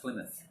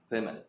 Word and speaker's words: Plymouth: Plymouth is pronounced Plymouth. Plymouth.